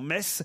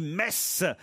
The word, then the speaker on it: Metz: j'ai remarqué que si vous cher laurent vous prononciez correctement metz ce n'est pas le cas de tous vos chroniqueurs christine bravo dit m on ne dit pas mais ce sont 10 messe de même qu' on ne dit pas freyming